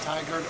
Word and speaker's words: Tigard: he's from tigard oregon is that already pronounced in tiger tiger oregon tiger oregon ian's from oklahoma